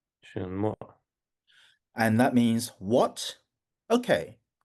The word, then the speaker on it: 什么: 嗯哼，什么什么？什么什么？ Yes, that's right. 什嗯，么什么？